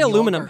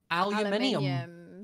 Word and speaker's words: aluminium: How do you say aluminum? How do you say aluminum? Aluminium.